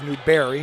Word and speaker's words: Newberry: I'm trying to hear what Coach Newbury is saying. It's Newberry. Let me pronounce it correctly.